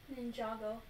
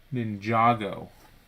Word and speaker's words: Ninjago: of ninja ninja ginjago you pronounce the a as in palm not as in ham ninjago ninjago so i was saying